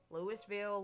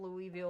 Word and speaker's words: Louisville: Uh, there are three ways you can you can pronounce pronounce it. Lewisville, Louisville, or Louisville? I'm telling you and and even people that's like a and even people there they say it all three ways and they can't you know exactly tell you.